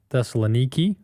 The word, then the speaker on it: Thessaloniki: We went to Athens, Corinth, Thessaloniki, which is how they pronounce it over there, and um several other places there in Greece.